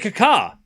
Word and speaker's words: Kaká: You say Kaká like a crow?